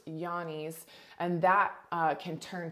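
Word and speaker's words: Johne's: called Yanni's which is spelled j-o-h-n-e-s almost like Johnny's but pronounced Yanni's and that uh can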